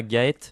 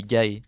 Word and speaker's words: Gaé: Voilà, aussi mon mon pseudo se prononce pas Gaet mais Gaé. Le T ne se prononce pas à la fin.